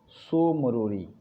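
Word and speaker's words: Tso Moriri: Lake मैंने बताया डल झील, वुलर झील, पागोंग झील, और एक चौथा है सो मोरोरी, TSO लिखते हैं, टी साइलेंट रहता है, मोरोरी।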